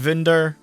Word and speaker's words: Wunder: up getting that anyway it would be pronounced vinder um you can kind of hear it in the way they say it because Japanese doesn't have the V sound effect they pronounce it with the the be um but yeah Wonder